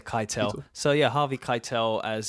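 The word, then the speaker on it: Keitel: is it is it Kel I always say kitel so yeah Harvey kitel as that FBI agent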